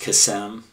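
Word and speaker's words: קסם: The word is from the Hebrew word number 7081, which is, the Hebrew is pronounced kesem, and it means to cast a lot.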